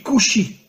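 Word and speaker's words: כושי: En hébreu, le mot noir se dit kushi.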